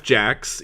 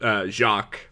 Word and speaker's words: Jacques: Okay, so, webcomic, questionable content, created by this guy named Jeff Jacks, even though his name looks like it should be pronounced Jacques, but, he's not French.